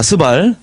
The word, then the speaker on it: 스발: 자, 어, 욕단과 그 집안들이 사는 데가 어디냐면은 매사에서 스바래요.이 발음 조심하셔야 됩니다. 이거 매사에서 스바. 아, 스발. 예.